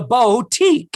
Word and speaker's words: boutique: new eyelashes at the boutique and I'm not supposed to blink until the glue dries. The boutique. It's not even she pronounces it funny. She pronounces it wrong.